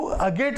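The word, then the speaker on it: agate: तो अगेट कहते हैं तो टी तो बिल्कुल साइलेंट ही रहता है ना, अगेट।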